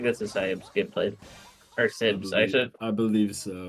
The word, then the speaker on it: siybs: I think this is siybs gameplay or sibs. I should. I believe so, yeah. I saw someone in chat say sibs.